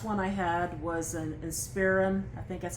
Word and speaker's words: Inspiron: The last one I had was an Inspiron. I think that's how you say it. Inspiron, yep.